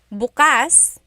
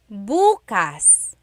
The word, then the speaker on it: bukas: If you say bas the emphasis is on the second syllable that means open. If you say buas emphasis is on the first syllable that means tomorrow.